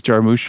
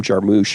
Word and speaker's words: Jarmusch: I made a list since I watched all these Jarmusch films.